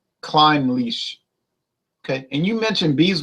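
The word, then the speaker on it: Clynelish: Jason for he says it is pronounced more like climb leash okay and you mentioned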